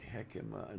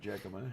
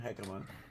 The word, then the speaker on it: jicama: Hecima. That's I spelled it horribly. It's not It's fun. spelled with a J.